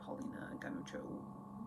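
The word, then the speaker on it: Paulina Ganucheau: I'm taking Girl Mode by Magdalene Visaggio and Paulina Ganuccio. That's how you pronounce that.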